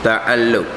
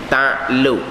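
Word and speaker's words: تعلّق: Dan baginya, bagi kudrat 7 ta'alluq. 7 ta'alluq. Itu ejaan sebenarnya. Ta'ain lam qaf. Ta'alluq. Tapi kod Melayu kita jadi ta'luq. Ta'ain lam waw qaf. Tu Melayu kita, ta'luq.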